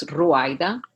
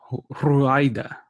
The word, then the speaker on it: Ruaida: So it's actually an Arabic name, but it's written in Spanish, so you have to roll your R's to say it. It's Ruaida. Ruaida.